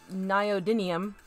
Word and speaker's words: neodymium: I'm talking about, how do you pronounce? The neodymium, I believe, magnets.